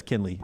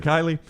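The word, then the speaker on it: Kenley: Jeff mcrel writes in Jim calling klie Jansen every time it's amazing Kinley Jans even even even says Kinley right here you said Kylie well you also said Bryce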